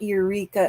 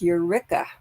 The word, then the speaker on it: Eureka: how they pronounce that and Eureka is not Eureka it's Eureka so um let's see